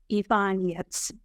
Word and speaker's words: Ivanets: And I'm also very delighted to introduce Ursula Ivanets. I said it correctly. That's Polish Ivanets.